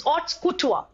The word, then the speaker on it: haute couture: All right, it's hot couture or haute couture. All right, couture. It's haute couture. All right, अब देखिए बच्चा, expensive fashionable clothes produced by leading fashion in the houses. So haute couture.